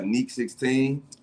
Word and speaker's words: NEC16: but I go by ni 16 you feel me it's a long e not a short e um I'm from Chicago